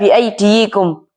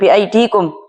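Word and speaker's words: بأيديكم: Tidak biidiyikum tetapi dibaca dengan biidikum karena itu lebih ringan membacanya bagi orang-orang Arab.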